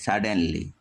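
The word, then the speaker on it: suddenly: যেমন এইচ ইউ এন টি ই আর Hunter, একইভাবে এস U double D ই এন এল ওয়াই সাডেনলি, এখানে your পরে দেখো এল আর টি রয়েছে,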